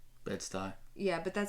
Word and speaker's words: Bedstü: Usually, when you see the brand name in print, it's got 2 little dots over each part of the U, and so I think it's pronounced sty, right? Bedstü.